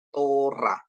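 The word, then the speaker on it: תורה: jadi dikasih He ya jadi tap dikasih Holong bacanya to Res dikasih kamat bacanya ra diakhiri dengan he jadi Bacanya adalah tora atau dibaca Tora gitu ya Kenapa karena He ini adalah lemah begitu ya jadi enggak terlalu dibunyikan kecuali nanti dia di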